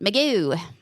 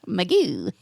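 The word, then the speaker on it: Mugu: which was out in point meoo point meoo you got to say it like that too even when you're writing it meoo and that's in out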